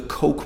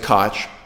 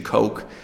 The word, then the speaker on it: Koch: to convince the mainstream press in America to pronounce their name the Koch brothers whereas everyone else with the same last name including Mayor Ed Koch quite a few famous people about that name pronounced at Koch but not in this case they prefer the